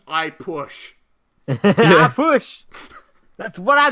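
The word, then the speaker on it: Ah Puch: If you pronounce it properly, it almost sounds like his name is just I Push.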